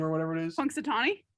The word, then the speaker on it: Punxsutawney: this what's his first one how do you pronounce his first name or whatever it is punxsutawney punxsutawney i think punxsutawney phil should be the horse